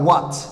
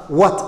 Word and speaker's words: what: by h oo ay ka hormartay w na is silent iyaduna way aamusan tahay sidan oo kale what sidan oo kale maxay noqonaysaa what h taas laguma dhawaaqayo waxay noqonaysaa what ayay noqonaysaa waxaan filayaa saddexdan erey in la